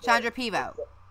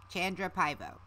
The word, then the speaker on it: Chandra Pivo: So close. Chandra Pivo? Chandra Pivo. No. It's Chandra. It's the Chan part you need. Chandra Pivo. Chandra Pivo. There you go.